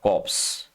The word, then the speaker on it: corpse: इसको कॉप्स नहीं कहते, इसका प्रोनाउंसिएशन होता है कोर और इसका प्रोनाउंसिएशन होता है कॉप्स, दोनों में काफी अंतर है, ठीक है ना।